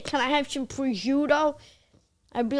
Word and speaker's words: prosciutto: first of all, it's prosciutto and mozzarella.